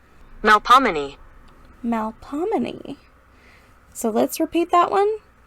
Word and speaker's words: Melpomene: So let's copy and see how to pronounce Melpomene. Melpomene.